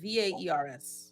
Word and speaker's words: VAERS: How do you pronounce it? VAERS.